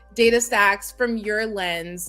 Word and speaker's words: DataStax: Data stacks. Is that how you pronounce this?